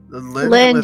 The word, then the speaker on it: Lindh: is um Lind yeah the H is silent yeah I kind of